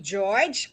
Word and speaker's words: Georg: Bali, ang eldest, amo na si George. Kung sa German, na siya mag-pronounce sa amon, Georg.